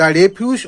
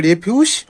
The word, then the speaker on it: refuse: তখন সেটার উচ্চারণটা হবে রেফিউজ এবং এর বাংলাটা হলো আবর্জনা বা ময়লা। যখন এটা ভার্ব হিসেবে ব্যবহার করা হবে তখন এর উচ্চারণটা হবে রিফিউজ।